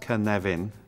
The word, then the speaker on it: Cynefin: this is the Canadian framework pronounced kan leven for those of you who don't speak Welsh the origin of the